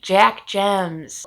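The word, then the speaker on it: Jemc: jack gems i finally looked up how to pronounce her last name aren't you proud of me jack gems it is a literary horror novel published by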